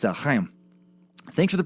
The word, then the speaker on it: Chaim: It's Chaim. Thanks for the pronunciation tips, man.